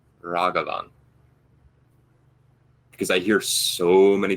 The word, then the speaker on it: Ragavan: to actually do the appropriate thing and say raghavan because i hear so many people pronounce it rag ragavan and i hate hearing that even if somebody